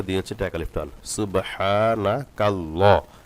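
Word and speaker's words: سُبْحَانَكَ: যে হাই পেনটা দিয়েছে এটা এক আলিফ টান সুবহানা কাল্লা লা পড়া যাবে না ল পড়তে হবে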